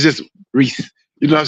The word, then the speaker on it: Reese: too much I like Reese it's just Reese you know what I'm saying just one syllable Reese people say reesei I said no Reese that's that's cool but